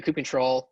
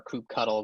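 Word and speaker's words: kubectl: uh and because the crew control or coupe cuddle there's that whole industry debate as to how you pronounce it i like coop control personally you can use the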